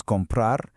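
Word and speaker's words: comprar: For this one, we'll use compra, which means to buy. And here's another great pronunciation tip. That R at the end is super soft, almost like it isn't there. It's more of an a sound.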